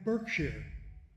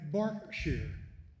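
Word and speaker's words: Berkshire: Anyone who has ever been to Reading, England knows they are not in Burkshshire. They are in Barkshshire.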